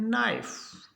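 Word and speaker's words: knife: आई एफ इसको पढ़ेंगे नाइफ के एन ओ डब्लू एल ई डी जी ई इसको पढ़ेंगे नॉलेज तो के का उच्चारण नहीं होगा एन का होगा नॉलेज के एन सी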